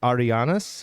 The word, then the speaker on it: Arianas: I have to tell people, think about the girl's name, Ariana. Yeah. I said just add an S. Arianas.